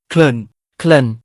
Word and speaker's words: ក្លិន: สวัสดีครับ คำภาษาไทย ในภาษาเขมรวันนี้ ขอเสนอคำว่า กลิ่น (ក្លិន) คำนี้ เขมรออกเสียงว่า เคลิน เว็บเขมรแจ้งว่า มาจากภาษาไทย คำศัพท์ต่าง ๆ ที่ใช้อยู่ในเขมร คำไหนที่มาจากภาษาไทย ดูไม่ยากครับ ถ้าเห็นตัวอักษร ส.